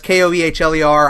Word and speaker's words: Kaler: That's Koehler. I know it looks like Kohler. It's spelled Kaler.